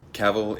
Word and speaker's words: Cavill: I mean who who caval is pronounced like travel travel caval in the hood